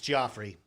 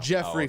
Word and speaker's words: Joffrey: It's Joffrey. His name's Joffrey. It's now. Jeffrey okay.